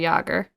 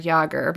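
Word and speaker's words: Jágr: Jaromir Jagr.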